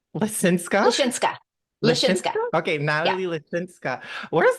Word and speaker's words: Lisinska: friend Natalie how do you say your name linsa linsa okay Natalie linsa where's that from like